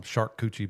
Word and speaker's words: charcuterie: pronounced it the right Charcuterie. way. Charcuterie. I call them shark coochie boards.